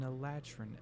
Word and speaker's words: Eladrin: He is is it pronounced Eladrin? Eladrin.